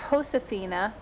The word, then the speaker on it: Josefina: It begins with a J on the book, but because it's a Spanish name, it's pronounced Josefina.